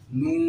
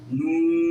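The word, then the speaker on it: نون: আপনারাও আপনাদের জিহ্বার আগা তারপর উপরে তালুর সঙ্গে লেগে দুই ঠোঁট গোল করে হরফটি উচ্চারণ করতে চেষ্টা করবেন। আমি একবার বলার পর আপনারা সকলে একত্রে একবার বলে চুপ থাকবেন। নুন, নুন, নুন।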